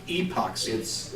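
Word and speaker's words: Apoxie: It's spelled with an A, but it's like epoxy.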